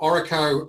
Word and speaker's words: Oro: yeah yeah of course so um so Oro um as we pronounce it so it stands